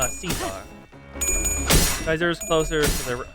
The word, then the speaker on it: Caesar: Yep, Kaiser's pretty much how they pronounce Caesar.